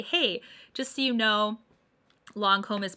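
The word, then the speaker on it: Lancôme: Most of them say Lancome instead of Lancome, and a lot of them say Guerlain instead of Guerlain. Okay, both of these are French words.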